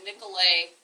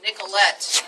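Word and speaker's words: Nicollet: current site of the Nicolet Island I said it wrong to Nicolette Island I'm getting all of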